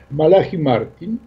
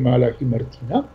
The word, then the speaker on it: Malachi Martin: tam, 10 lat temu, Malachi Martin, ja go wymawiam po polsku, bo tak się wymawia w Europie, w książce The Windswept House, czyli Dom smagany wiatrem.